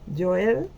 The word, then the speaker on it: Joel: El nombre hebreo de Joel se escribe con Y, se pronunciaría en nuestro español Joel, y significa Jehová es Dios.